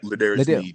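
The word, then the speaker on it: L'Jarius Sneed: But I got to give a big up to goddamn Ladarius Sneed. Did I say his name the right way? Yes, Ladarius Sneed.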